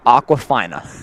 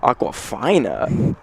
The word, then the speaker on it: Aquafina: dis sunny even better aquafina aqua finer you pronounced it fine up I thought it was aqua FINA this entire time it's fine alright there's